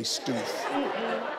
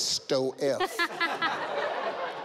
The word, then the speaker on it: Stoef: That does not say Stoof. That says Sto-F.